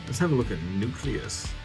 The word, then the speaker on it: Nucleous: You've seen Hot Shot, now let's have a look at Nucleous. Nuclear. It's pronounced nuclear.